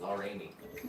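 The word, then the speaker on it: Laramie: It said Lar Amy, I believe. Lar Amy. Amy. That's how we pronounce that down there.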